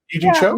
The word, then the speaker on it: Yee Jee Tso: Did I pronounce that right? It's Yee Jee Tso, right? Yee Jee Tso?